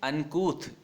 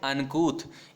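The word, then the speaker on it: uncouth: या फिर एक वर्ड है यहाँ पे अनकूथ, इसका जो प्रोनाउंसिएशन है वो बहुत इंपॉर्टेंट है। ये आप ध्यान रखें, क्या बोलेंगे इसको? अनकूथ। क्या बोलते हैं? अनकूथ।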